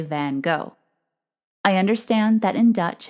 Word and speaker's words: van Gogh: I’d also like to mention that the other pronunciation of his name is “van Goff,” which I’ve heard on BBC reports and documentaries.